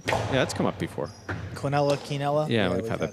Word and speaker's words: quinella: David Howard, there is a difference between pronouncing it Quinella and Quinella.